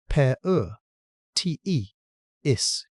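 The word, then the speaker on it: Paratethys: Oligosine and the rock it came from was laid down at the bottom of a sea called the Partheis pronounced per te is in water with almost no oxygen.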